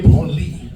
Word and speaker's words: Branly: the Musée du Quai Branly. That last word is important. It's pronounced Branly, not Branly. Some people pronounce it Branly. If you pronounce it Branly, it becomes the museum for touching yourself.